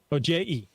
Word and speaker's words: Ojai: Ojai. It's Oje. Yeah. Not in Spanish. I It's don't pronounced speak Ojai.